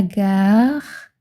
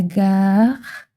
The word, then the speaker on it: gare: Le mot gare se prononce presque comme le début du mot garden en anglais.